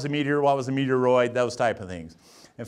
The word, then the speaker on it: meteoroid: going to get so meteoroid meteoroid is floating around rhymes with asteroid that's cool cool and